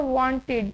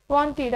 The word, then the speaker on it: wanted: अगर हम इसको प्रोनाउंस करें तो हमें पता चल रहा है कि इसमें आई, डी का साउंड आ रहा है तो ये यहाँ पे आ जाएगा आई, डी के ब्लॉक में, WANTED, वांटेड।